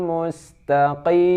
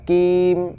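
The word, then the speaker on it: المستقيم: Ihdinas siratal mustaqim. Qim bukan kim ya. Qim di pangkal lidah yang paling uram ya, itu qa, qi, qu ya.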